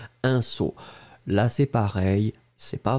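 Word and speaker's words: sceau: Et regardez, on l'écrit S-C-E-A-U. Un saut.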